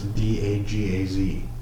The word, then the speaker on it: Dagaz: Isn't it just pronounced da in case I get roasted? It's d a g a z.